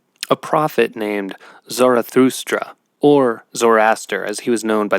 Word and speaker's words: Zoroaster: read um about it the way it's pronounced is you kind of roll off that second o instead of saying zoroaster it's it's more like zoraster that I always in